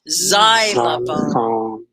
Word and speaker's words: xylophone: But it's an X, and X does that a lot, where X will sound like a Z. Xylophone.